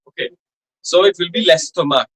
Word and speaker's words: l'estomac: we are not, and nor we are pronouncing it as le estomac. We will be pronouncing it as l'estomac, because that le or la, the masculine and the feminine article, will get contracted or elided rather, okay, before a vowel.